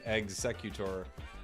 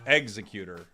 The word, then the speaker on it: Exeggutor: I appreci appreciate it I think you're mispronouncing executor pronounce it like executor but with eggs executor okay executor thank you ghost